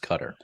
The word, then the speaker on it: Qatar: and in my opinion it should be pronounced cutter well and also kind